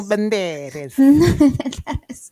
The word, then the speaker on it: Banderas: Antonio Banderes.